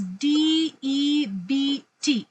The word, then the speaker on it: debt: we we we had a problem with the pronunciation that's why okay so now the word we are talking about is D EBT am I right yeah yeah ma'am Rec yes